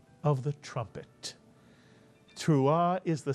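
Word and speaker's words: תרועה: And therefore, the entire first syllable would be teru, mitsuyan, teru. And the second syllable, ah, mitsuyan, the silent ayin with the patach followed by the hey, which is silent at the end of a word, ah. Put the word together and you get truah or truah, mitsuyan. And what does truah mean?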